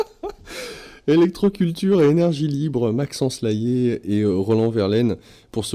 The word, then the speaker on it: Layet: Électroculture et énergie libre, Maxence Laillé et Roland Verlaine pour ce livre Les bienfaits de l'électricité et du magnétisme naturel pour des cultures écologiques. C'est aux éditions Le Courrier du Livre. Laillé, j'appelle le nom de famille, Layet.